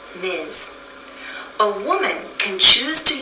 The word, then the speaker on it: Ms: we pronounce this as Miz Ms sounds like a z at the end Miz a woman can choose